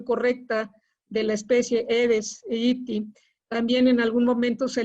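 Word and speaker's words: Aedes aegypti: asociado a culex ahora sí que haciendo la pronunciación correcta de la especie aedes egypti también en algún momento se le vinculó a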